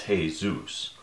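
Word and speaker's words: Jesús: I hurt my parents the Spanish pronunciation is Jesus although most North Americans pronounce it as if referring to the Christian savior there's just no way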